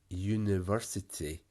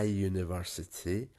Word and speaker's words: university: is you but ah university because even though it's still the letter u it's actually the y sound and that's not a vowel so i university an umbrella an hour